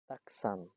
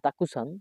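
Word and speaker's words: たくさん: এইবার আরেকটা আছে ধরেন তাকসান তাকসান মানে কি প্রচুর অনেকে উচ্চারণ করবেন তাকুসান বাট তাকুসান না এটার উচ্চারণ হবে তাকসান তাকসান মানে প্রচুর আচ্ছা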